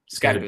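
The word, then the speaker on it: Skattebo: He could, if he really likes Cam from the Giants running back, Oh, Skepadu or Scadaboo. Skepadu, that's how you pronounce his last name.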